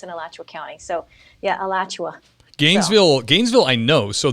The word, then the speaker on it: Alachua: i mean can you tell us the proper pronunciation of that county yeah alachua county uh which is i went to the